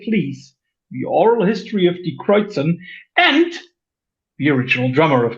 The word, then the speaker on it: Die Kreuzen: Yeah, it's a wonderful pleasure to talk about Die Kreuzen. And I hope that you understand that I will not pronounce it in an Americanized way. Being German, I stick to that one.